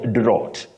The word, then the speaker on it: drought: but that is wrong that word has what we call the de thong ow ow that is a glide on two vowel sounds you say drought drought